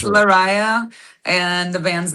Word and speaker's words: Lariyah: Did I pronounce it okay? Because no worries. It's Lariyah, and the band's name is DieveNoire.